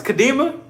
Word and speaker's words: Kadima: It's Kadima. I swear I be wanting to put like a Spanish tone, like Kadima. I swear when I see your name, I think of like Karina.